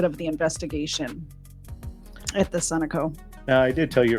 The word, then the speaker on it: Sunoco: pumping gas at the Sunoco. I always in my head call it Sunoco, and I know that's wrong. It's pronounced Sunoco, isn't it?